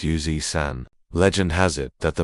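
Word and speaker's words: 油纸伞: The character for umbrella is Sun-san, pronounced San, and the oiled paper umbrella is called Yoji-san, pronounced Yuzi-san.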